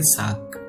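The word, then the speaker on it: 삯: तो जैसे कि मैंने एक वर्ड यहाँ पे डाला है तो हम यहाँ पे क्या इसे प्रोनाउंस करेंगे, साक।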